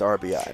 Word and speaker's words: RBI: The proper way to say it is RBI, because if you do it phonetically and you go runs batted in, if you add the RBIs, it's runs batted ins. Which doesn't make sense.